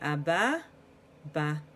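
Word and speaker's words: אבא: bah bah bah bah so in in Sephardic or modern Hebrew pronunciation the Komets makes the same sound as the PATA so it would be a bah bah but we're gonna read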